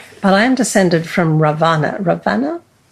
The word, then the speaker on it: Ravana: My loins are loaded with banyan seeds from Sri Lanka, but I am descended from Ravana. Ravana? Not Ram. Is that the correct pronunciation?